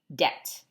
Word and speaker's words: debt: for it later debt this word debt it has a B in it and it's a silent B so it sounds like debt can you say it debt debt is something that